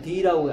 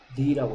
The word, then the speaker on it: the: In, 아, 이거는, 아, 어떨 때 D라고, 아, 왜 in the room이라고 하냐? 알겠어요. 자, 얘는 원래는 더란 발음이죠. 더인데요. 뒤에 더 뒤에 아, 에, 이, 오, 우 소리가 나면 D라고 이거. evening 할 때 이 소리는 무슨 소리예요?